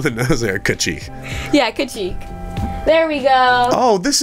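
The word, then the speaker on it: Kacheek: like fox squirrels people pictures how do you spell that k ACH ee k wow really really on the nose Erica chief yeah could cheek there we go oh this is like the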